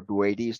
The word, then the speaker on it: Boötes: So you can also have some other fun with asterisms, because we look over here at the constellation Bootes or Boötes, depending on how you pronounce it.